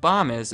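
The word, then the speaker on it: Bomis: I know it's pronounced bomb is because under their frequently asked questions they tell me that bombis rhymes with Thomas right above does the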